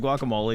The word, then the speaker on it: guacamole: see guacamole is it guacamole is how you say that you're supposed to pronounce the e at the end I just think guacamole